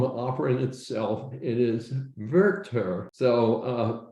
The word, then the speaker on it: Werther: It is Werther, which is the correct German pronunciation.